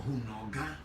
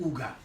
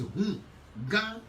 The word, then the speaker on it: Hunga: In Ewe, the word is Hunga or Hunoga. But because of the French word, you remove the H when H starts the word. Instead of them pronouncing it the Ewe way, they are pronouncing it in the French way by calling it Uga. It's not Uga, it's Hunga. Hunoga.